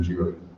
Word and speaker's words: Giry: But in addition, she's just completed a world tour of Phantom of the Opera as Madame Giry.